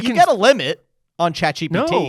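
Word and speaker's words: ChatGPT: You got a limit on chat GPT? Oh, I can I can speak to chat GBT.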